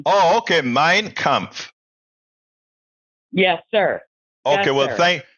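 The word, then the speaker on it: Mein Kampf: lady hey brother okay first it's pronounced mine comp M how do you say Hitler's book M mine mine like a land mine oh okay mine comp yes sir okay well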